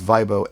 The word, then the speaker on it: Vibo: So instead of people saying Vibo or Vibo or whatever, we're going to make sure they know how to say it. It's Vibo, and it's the music planning app.